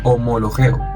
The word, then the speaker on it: homologeo: Aquí aparece nuevamente la idea de confesión, pero la palabra que se traduce como confesar se pronuncia homologeo, que significa reconocer, admitir, decir lo mismo que Dios dice acerca del pecado.